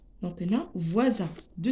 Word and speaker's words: voisin: On prononce S ici Z parce que S entre deux voyelles.